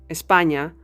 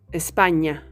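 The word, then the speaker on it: España: Saw with the alphabet The Sound that we produce with it very similar to the english as in parking the difference is that your tongue should be touching your palet to do the in espanya If You're a British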